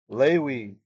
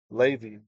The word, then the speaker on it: Levi: So bene from banim, banim means children, bene means children of Lewi, or if you read it with modern pronunciation, Levi.